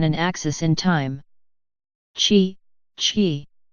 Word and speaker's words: qi: Qi, qi. Qi, pronounced qi in English, is a movable positive or negative life force which plays an essential role in Feng Shui.